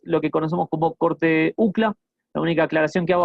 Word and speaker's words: UCLA: bastante conocido, es que en inglés sí hay que deletrar esta esta sigla, ¿sí? No no no la pueden eh no la pueden pronunciar así eh de corrido como hacemos en español, que que en vez de letrarla le decimos UCLA, por lo menos en Argentina, eh, así que es UCLA, sí, UCLA cut.